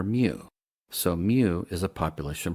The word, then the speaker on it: mu: In math and science environments, we usually say the m sound followed by the word you. So, it rhymes with few. Occasionally, you'll hear moo, which sounds silly to